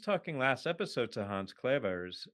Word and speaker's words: Clevers: But we were just talking last episode to Hans Clevers, who I tried the Dutch pronunciation there, which maybe didn't come off so well. Hans Clevers.